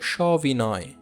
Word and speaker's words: সবিনয়: যেমন দেখো সবিনয়, সবিনয়, সবিনয়, সস্ত্রীক, সস্ত্রীক, এখানে কোনো পরিবর্তন লক্ষ্য করেছো? না। পাশাপাশি দেখো সজ্ঞান, সজ্ঞান, দেখেছো পূর্বে নিয়মটার কথা বলেছিলাম। দেখো সবিনয়, সবিনয়, সস্ত্রীক, সস্ত্রীক, সজ্ঞান, সজ্ঞান,